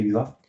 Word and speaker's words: Hyvä: Donc c'est un site en Côte d'Ivoire, c'était notre premier UVA, donc déjà 2021 donc ça se prononce en effet UVA.